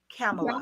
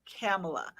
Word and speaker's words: Kamala: easy to just say, it's like Pamela with a K, Kamala. Yeah. Like the vice president now, Kamala. That's how my name is pronounced, but it's not spelled the way it's pronounced.